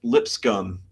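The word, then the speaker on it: Lipscomb: Uh it was a Church of Christ college called Lip SC, pronounced Lip Scum, spelled Lipscom.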